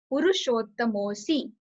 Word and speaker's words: Purushottamosi: So pronounce it like that. Puru Shottam Osi. Puru Shottam Osi. Purushottamosi. When you will pronounce it, so again, like here, you will put like very little pressure on T. So it's Puru Shottamosi.